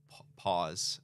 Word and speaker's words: POS: um having a um pause I believe is how you pronounce it in Australia so this was the